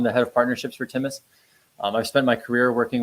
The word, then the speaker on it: Timus: lot of questions about is it timus is it thus you know tell me about how to pronounce the company name and where the name come from and there's a there's a gland in the in the thyroid called the thus gland which helps with immunity